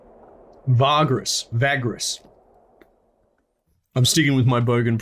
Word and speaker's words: Vagrus: Such a leader is called a Vagrus. Vagrus. I'm sticking with my bogan pronunciation.